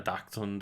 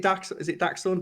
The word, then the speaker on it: Dachshund: like, yeah, I say like we've got a dachshund, and it's like that is Is that even bred to go down like Yeah, rabbit but holes and badger holes and stuff.